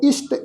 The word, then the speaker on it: इष्टे: नमो मंत्र मंत्रंग नमो जंत्र जंत्रंग नमो इष्ट इष्टे नमो तंत्र तंत्रंग। साध संगत ख्याल रखो ईडी नूं सियारी सस्से पैर जो है वो बिंदी लगा के पाठ उच्चारण करांगे इष्ट इष्ट इष्टे।